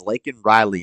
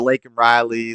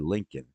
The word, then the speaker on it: Laken: What about Laken Riley? Laken Riley, say her name, say her name. Same thing the BLM people did. Laken Riley. Laken Riley. He said Lincoln.